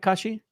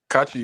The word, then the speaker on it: Kachi: Kashi. Kachi. Yeah. Yeah. Yeah. Okay. Perfect. Good. Good. Actually, don't worry. You can't get the African pronunciation, but that's close enough.